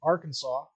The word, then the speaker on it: Arkansas: you it says AR Kansas I don't see a w in that name I that that that's confused me for decades but whatever R Kansas Arkansas uh yeah so tickets